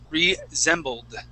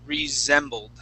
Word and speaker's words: resembled: Now, this word here, this word is resembled. Okay, so we're going to have a Z sound for the S, resembled.